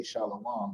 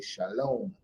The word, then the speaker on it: Shalom: That's why nobody from Israel that speaks modern Hebrew would ever say Shalawam. They would say Shalom.